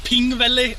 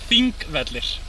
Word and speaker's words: Þingvellir: called it Pingvelli or something. Yeah. It is not even close. Pingvalla vatten. Pingvellir. The P-looking thing is a TH.